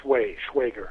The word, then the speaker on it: Schwager: with your name, if it was Swagger or Swagger. No, it's it rhymes with Schwagger.